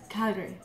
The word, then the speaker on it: Calgary: right calary Calgary yeah you're saying it right Calgary oh still have the accent but Calgary so